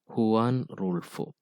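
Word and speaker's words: Juan Rulfo: employ this method are gabriel garcia marquis borghus juan rule 4 and others see the pronunciation it's won rule 4 so that is magical realism magical realism is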